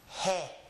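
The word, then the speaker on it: jota: The closest thing I can find to it in English is the word hey. But that's not correct. But it's pretty close. The correct pronunciation of the name of this letter is he. He. It's short and fast with an E sound, and the first sound is an H sound because the rule for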